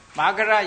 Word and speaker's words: Magadha: Magadha University, Magadha University, not Magadha. Da, then never they pronounce it da like it.